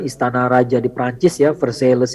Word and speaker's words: Versailles: raja di Perancis ya Versailles Iya bacanya bukan Versailles BSD gimana sih udah